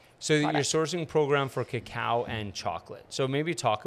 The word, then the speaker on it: cacao: pronouncing this wrong is it's not Coco it's cacao right so Cacao is the